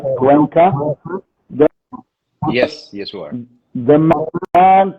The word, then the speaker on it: Cuenca: Alejandro Martinez Cuenca, I hope I'm pronouncing right, Cuenca, Yes, you are.